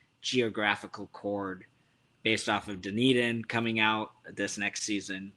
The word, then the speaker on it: Dunedin: I'm a good friend of their merchandiser in Dunedin. I pronounce it wrong. Dunedin.